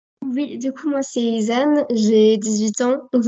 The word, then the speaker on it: Izan: Bonjour Isan. Bonjour. C'est bien comme ça que Du ça coup, se prononce. non, ça se prononce Isane.